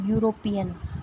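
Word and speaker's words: European: पहले इसका प्रोनाउंसिएशन पढ़िए, क्या आएगा, यूरोपियन, तो या आ रहा है, या क्या है, कॉन्सोनेंट, तो इसमें क्या आएगा, ए आएगा।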